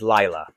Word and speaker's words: Lila: Chinese or Japanese but her name pronounced phonetically in English is Laya l i l a oh it's really trickier